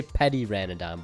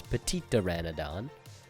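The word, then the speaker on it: Petiteranodon: I just say Petty Ranodon, but it's Petitoranodon.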